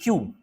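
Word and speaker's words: queue: अब देखिए क्यू यू ई यू ई, क्यू, अगर ये शब्द आपने पहले नहीं पढ़ा तो मुझे विश्वास है कि आप नहीं पढ़ पाएंगे।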